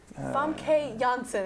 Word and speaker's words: Famke Janssen: Famke Janssen is how it is pronounced.